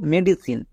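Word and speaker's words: medicine: তার উপরে কাজ করবে না যেমন এখানে দেখো মেডিসিন এখানে আটটি লেটার আছে এর মানে কি ছয়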